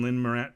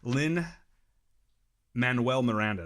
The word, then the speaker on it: Lin-Manuel Miranda: Emily Blunt did fantastic in it and again Lynn Moran Lynn I could never say his name right the first time lin-manuel Miranda there you go did fantastic in this movie